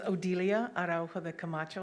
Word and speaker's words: Odilia Araujo de Camacho: My name is Odelia Araujo de Camacho. I'm going to spell it for you.